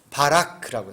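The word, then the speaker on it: בָּרַךְ: 이 바라크라고 하는 발음을 조금씩 변형해서 베레크라고도 하고 바라크라고 하는데 이게 다 복에 관한 이름들이에요.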